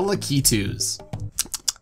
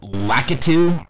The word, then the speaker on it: Lakitu: favorite flying Koopas the lucky two's oh my god it's pronounced lakitu well actually I think it's kind of a mix of both however you want to pronounce it this guy's made his